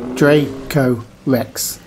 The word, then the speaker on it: Dracorex: dinosaur names to say is just three syllables you say it like this draco rex draker x don't forget